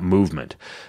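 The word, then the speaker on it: MVMT: called M V MT you pronounce that movement these broke college kids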